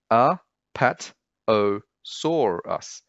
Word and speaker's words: Apatosaurus: Five syllables. A-pat-o-saur-us. Apatosaurus.